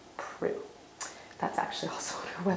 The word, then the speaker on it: Proulx: It's spelled Proulx, but we do not pronounce the X. We do not pronounce the L. It is Annie Proulx.